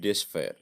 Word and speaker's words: despair: It should be ডেসফায়ার, DESPAIR, ডেসফায়ার, এটার উচ্চারণ ডেসফায়ার হবে, DESPAIR, আই am sorry for that.